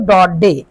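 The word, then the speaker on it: Daudet: इसके ऑथर हैं अल्फेंजो डडे। देखिए इसको पहली बात तो ये अल्फजो जो हैं इनका सरनेम इसमें टी जो है वो साइलेंट है। तो इसको पढ़ते हैं डो डे।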